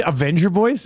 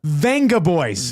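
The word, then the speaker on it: Vengaboys: Did you say Avenger Boys? No, Venja. Venga Boys.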